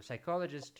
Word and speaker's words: psychologist: pneumatic pneumatic pneumatic pneumatic so what letter is not pronounced P that P is not pronounced psychologist pneumonia do do you see do you hear the letter P in those words psychologist pneumonia pneumo and